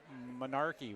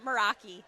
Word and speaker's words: Meraki: Monarchy. What's your lab's name? Meraki.